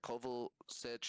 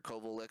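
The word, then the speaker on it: Kovačić: Like you said, Kovacic or Kovacic, I always pronounce his name Kovacic, wrong. Kovacic. Kovacic, yeah.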